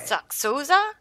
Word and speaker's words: Soxolza: Soxolza? That's how you pronounce it.